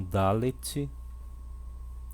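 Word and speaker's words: ד: Dalet tem o som de D, então Dalet, repita, Dalet.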